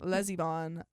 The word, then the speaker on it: Lesivon: The name was Lesivon, pronounced Lesivon, like my niece is the lesbian baroness of some German village.